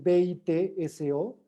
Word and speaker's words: Bitso: Taurus que mencionaste Okay Se refiere a bito no es B i t s o Ah es que escribió